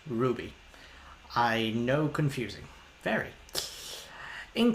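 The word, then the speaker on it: RWBY: could you maybe react to r y by pronounced Ruby I know confusing very in case you don't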